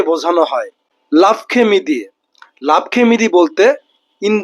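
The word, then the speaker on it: l'après-midi: লাভখেমিদি।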